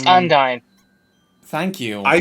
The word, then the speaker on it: Undyne: it's Undyne. Thank you. I say Undine.